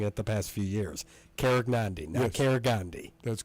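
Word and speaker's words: Karegnondi: the name and that's how I had them pronouncing at the past few years Cara Gandhi now Cara Gandhi that's correct okay just making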